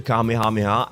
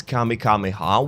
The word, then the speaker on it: Kamehameha: my opinion remember how Goten mispronounced the Kamehameha as Kami kameha once during The Bu